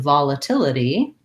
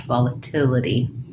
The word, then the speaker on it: volatility: Versus in volatility, I'm going to say this T, so I hear that T sound, and this syllable is stressed, so I have, again, volatility, and then this T is flapped, volatility. There's a very loud, long thunder going on outside.